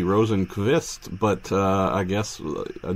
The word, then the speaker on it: Rosenqvist: I think it's better like most people say it. I mean, as it looks, let's say.